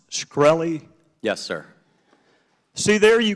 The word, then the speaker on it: Shkreli: chairman is it pronounced shkreli yes sir see there you can't answer some